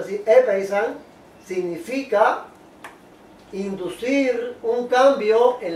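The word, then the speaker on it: ἔπεισαν: Y esa palabra griega, persuadir, epeizan, se pronuncia así, epeizan, significa inducir un cambio en la manera de pensar mediante la influencia de la razón o de consideraciones morales.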